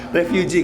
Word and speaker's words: refuge: Refugee. Kalau refugee E-nya 2 pengungsi. Ya, pengungsi. Berarti kalau ini refugee ini ya. Tempatnya ya refuge ya. Refuge. Ya, harusnya refuge kan bacanya.